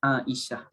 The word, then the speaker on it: Esah: Jadi ejaan Melayu ni walaupun contoh nenek saya namanya Esah, contoh Esah. Panggilannya tetap Aisyah. Panggilannya tetap Aisyah. Jadi begitulah dengan mana-mana nama pun, ejaan Melayu ni dia bukan ukuran. Dia perlu dikira dengan nama asalnya dalam bahasa Arab itu.